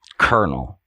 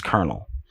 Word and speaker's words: colonel: captain no a colonel colonel colonel there's no silent R maybe maybe it's silent